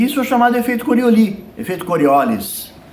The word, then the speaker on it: Coriolis: chamado efeito corioli efeito coriolis que por ele ser francês é corioli que pronuncia mas o pessoal pronuncia coriolis Então as duas tá valendo porque aqui é brasils